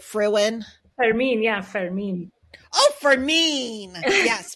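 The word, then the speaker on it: Fermín: Fermin, yeah, Fermin.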